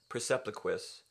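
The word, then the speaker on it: Percepliquis: pronounce it would be Persepliquis, with the Q having a K sound.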